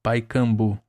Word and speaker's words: Pacaembu: E finalmente adentrei o estádio do Pacaembu que se pronunci pronunciava Paikambu.